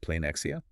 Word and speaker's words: πλεονεξία: It's pronounced pleonexia.